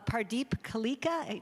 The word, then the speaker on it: Pardeep Kaleka: And tonight, sort of the culmination, we have Pardeep Kaleka.